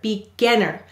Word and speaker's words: beginner: So you can test this by saying the word beginner. Do you feel how your mouth drops open for again? Beginner. So since that syllable is stressed, we will double the N and add the suffix er.